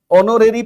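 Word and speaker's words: honorary: ओनोरेरी post. ओनोरेरी post में एच जो है यह साइलेंट है।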